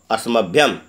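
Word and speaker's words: अस्मभ्यम्: उच्चारण पर ध्यान देंगे, कहेंगे मह्यम, हय संयुक्त है मह्यम आवाभ्याम अस्मभ्यम, असम संयुक्त भय संयुक्त म अस्मभ्यम।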